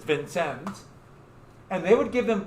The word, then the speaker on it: Vincennes: the British fort at Vincennes. I know I'm mispronouncing it, but that's, if you're from Indiana, that's how you would pronounce it, Vincennes, even though it's French.